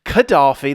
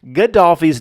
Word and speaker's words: Gaddafi: Gaddafi's new to me. It looks like that says Gaddafi, like Daffy Duck.